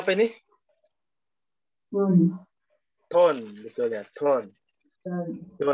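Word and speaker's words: 돈: Ton. Ton, betul ya. Ton. Ton. Tulisannya bisa don, tapi dibaca ton.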